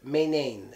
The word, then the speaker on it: maintain: the T there or we use the T sound in that word because you're using the same syllable sounds and we need to make an obvious break so Mane tame is the same sound so we have to break it that's just what I